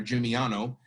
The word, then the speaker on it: San Gimignano: So for example, we talked about San Gimignano, and I put the phonetic pronunciation there, Gimignano. And it's a hill town in Tuscany, we know that.